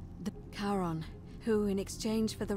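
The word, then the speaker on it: Charon: it's just as you described it only your pronunciation is a little off the name you heard wasn't karen it was c h a r o n as in caron the caron who in exchange for the right coin helps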